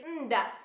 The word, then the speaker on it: hendak: Terus contoh lainnya ada hendak. Hendak kemana? Dihilangkan H depan, pengucapannya berganti jadi endak.